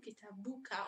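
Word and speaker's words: كتابك: We add the small u, kitabuka, only to connect the possessive adjective to the word itself. So it's only for pronunciation matters, and it doesn't matter if you pronounce it or not. It just helps you connect the letters.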